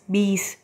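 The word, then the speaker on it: बीस: பி இஸ் பீஸ் 20.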